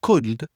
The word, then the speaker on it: could: Première chose les trois mots should would et could tu prononces pas le c'est pas ou would ou could tu prononces pas le l.